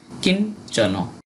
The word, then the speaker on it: কিঞ্চন: এরপর আছে কিঞ্চন। এখানে ইয় চয় যুক্ত বর্ণ এটা, তাই ইয়র উচ্চারণটা অর্ধেক নয়ের মতো প্রথম হয়েছে এবং পরে চ। কিঞ্চন আমরা কেন চন বলি, কেননা শেষে নয়ের যদি কোনো হসন্ত না থাকে তাহলে আমরা কিঞ্চন এই কথাটা বলবো না, কেননা এখানে কিন যখন বলছি তখন হসন্ত আছে, এখানে হসন্ত নাই, তাই চন বলা যাবে না, কিঞ্চন।